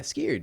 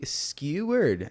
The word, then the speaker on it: skewer: Why can't you say it correctly? That's how you say it, dude. It's skew skewer. Scared, dude. You skewed it, dude. You're missing like three letters.